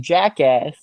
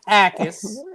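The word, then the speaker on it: Jacas: So Gabe It's Gabe Gabe Acus. It's Acus and you know it's Acus. But in Philly we're going to call him Gabe Jackass. The J is silent like the Port like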